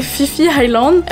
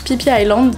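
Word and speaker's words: Phi Phi Island: nom est super visage pensé que ça se prononce et fifille langues mais non ça se prononce pipia landes très sympa du coup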